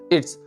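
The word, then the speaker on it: it's: इट्स यहाँ जेड का pronunciation नहीं निकालना है आपको, एस का ही निकालना।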